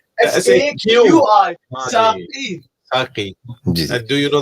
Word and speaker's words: Saqi: جی جی نہیں وہ کہتے ہیں کہ ان کا نام جو ہم سپیلنگ کرے تھے ساقی SAKHI, that was wrong. SAQI ساقی Saki.